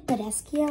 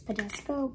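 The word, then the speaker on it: Badescu: People are saying Badescio. I think it's Badesco, but I think it's Badescio. I'm still going to pronounce it as Badesco, so yeah.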